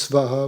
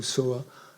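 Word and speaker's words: svāhā: Le soa vient souvent, on le prononce svaha ou soa, ça vient souvent donc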